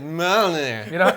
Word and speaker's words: Mjolnir: trying, and I'm like spelling it out so phonetically of me, yol, near, and he's like, Mjolnir.